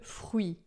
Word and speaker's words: fruit: A gente tem o R aqui que vai ser sempre de dois RS e o T final que a gente não pronuncia. E o U que a gente pronuncia bem u. Assim você vai fazer uma boca de U e vai falar I. E daí vai ficar ui, d'accord?